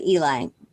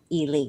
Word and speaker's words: Ely: ely minnesota and um it looks like eli but she's really from ely it anyway she phonetically